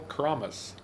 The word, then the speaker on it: Kramis: i got it rhymes with promise kramis thank you for correcting